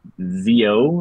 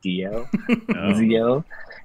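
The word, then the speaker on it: zio: z i a and for Uncle it's Zeo like that I O but how they say it kind of sounds like they're saying Dio and every time they call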